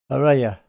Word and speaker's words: Araya: And guitar is Araya. That's how you pronounce it.